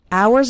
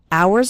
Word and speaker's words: hours: try and as spend hours and hours remember the H in the word hours is silent so don't pronounce it at all hours and hours and the